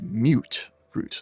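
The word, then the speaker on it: Mutfruit: I think the way it's pronounced in New Vegas is mute fruit. They're kind of like mutants. Right. Mute. Yeah. Mutant. Yeah.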